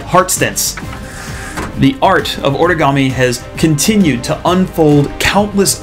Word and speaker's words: origami: and i've been saying origami uh because we want to follow the japanese pronunciation then you want to say ori origami okay so wanted to